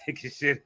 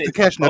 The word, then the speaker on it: Takeshita: For calling him take a shit. Like we that's how his name is spelled. But everybody, they respect. We respect. Man, I don't give a shit. I'm gonna pronounce it the way I see it. Bolo. But it is Takeshita though.